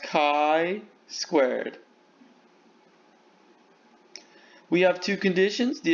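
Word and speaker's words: chi-squared: like a fancy axe symbol here it is pronounced chi squared we have two conditions the expected counts are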